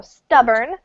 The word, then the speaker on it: stubborn: stubborn stubborn yeah stubborn so stress falls on the first syllable um and we don't really pronounce the O so stubborn and it means um